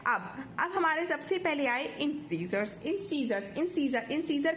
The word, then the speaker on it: incisor: अब हमारे सबसे पहले आए इंसीजर्स। इंसीजर का काम क्या होता है? कट करना। सीजर का काम होता है ना कट करना, और सीजर जैसी इसकी प्रोनाउंसिएशन है।